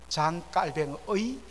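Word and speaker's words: Calvin: 제바의 종교 개혁가 바로 요한칼빈 잔 캘빈 프랑스 발음으로는 깔뱅의 그러한 가르침을 따라 된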